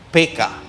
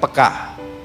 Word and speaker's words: peka: dalam bahasa Indonesia sebetulnya pengucapannya yang benar gaya orang Batak PK bukan peka saudara PK sensitif karena